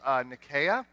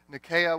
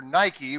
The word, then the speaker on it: Nike: image of her here nakiya is the goddess of victory nakaya's name is spelled in a way that's more familiar to us it's in I ke we would call her Nike right and actually archaeologists